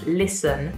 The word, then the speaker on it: listen: But as you can hear, there's no T sound when I say this word. Listen, listen. But in the actual word, when we spell it, there is a T after the S, but we don't pronounce it. So we don't say listen because that just doesn't sound right at all. We just say listen.